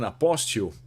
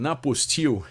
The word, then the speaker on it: apostille: And there is like a challenge, which is you need to get an apostille or an apostille. It depends on how you pronounce the word, but if you get